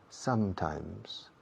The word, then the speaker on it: Sometimes: De nuevo, la pronunciación. Dos M's. Y en las dos M's se cierra la boca. Sometimes.